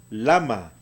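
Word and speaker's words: למה: al final de palabra no se pronuncia se hace muda lahey al fin de palabras ya se muda entonces esta palabra va a pronunciarse lama usted quiere preguntar en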